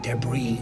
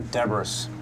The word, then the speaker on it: debris: There was metallic debris all over the desert. Or Debris. No, it's debris. Well, there's an S. Why isn't it pronounced Debris?